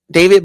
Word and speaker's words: D4vd: So, David, but it's spelled like different. It's like D4 VD. So, D4 VD.